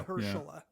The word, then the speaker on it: Mahershala: pronounce the Maher? Mahershala Say it again. Ali. I think so. Yeah. Mahershala.